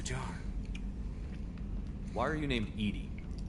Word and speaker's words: EDI: airlock is a jar why are you named Edie Edy is the phonetic pronunciation of e d that is an acronym